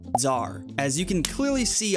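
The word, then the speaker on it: TzHaar: The first fun fact is that it's not actually Tazar, like Tella's been saying. It's actually pronounced Zar, as you can clearly see on the wiki.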